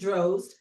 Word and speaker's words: Drozd: rhymes with hosed. I thought so, but I was like, I always have to get people's last name right. So Anne and Jerzy Drozd.